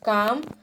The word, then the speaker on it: calm: Next, calm, calmness, CALMNESS. There L is silent, right?